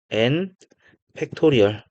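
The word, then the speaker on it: n!: 느낌표라고 읽지 않고 n 팩토리얼 요렇게 읽겠습니다.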